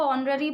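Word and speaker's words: honorary: ही इज एन ऑनरी यहां पर एच है लेकिन हम इसको ऑनरी पढ़ेंगे ओ की साउंड प्रोड्यूस हो रही है तो इस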